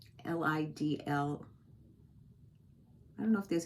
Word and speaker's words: Lidl: And it's funny because there's a store in New Jersey called, I used to call it Lidl, L-I-D-L.